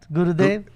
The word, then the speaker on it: Gurudev: You said it right, Gurudev.